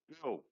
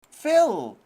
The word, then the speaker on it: Phil: I know it's Bill, and I got a 24, bro. How do you pronounce his name again? Bill. Phil! Oh, like State Farm Phil.